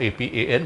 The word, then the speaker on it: Apan: So first we look at the Apan Mudra or Apan Mudra, A-P-A-A-N or A-P-A-N, whichever way you want to spell it, it's Apan.